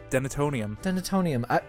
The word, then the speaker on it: denatonium: Did I say it right? Denatonium.